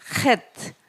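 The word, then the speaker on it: ח: 헷 , 헷 이에요 . 그러니까 목구멍 에서 나오는 거 예요 . 예 . 'h' 발음 .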